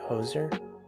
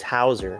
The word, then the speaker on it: Hauser: oh was it is that how you say it hoser no it was hauser it was hauser